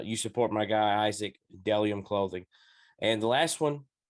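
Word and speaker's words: Bdellium: bde ll iom dellium is pronounced dellium even though there's a b in front you know i have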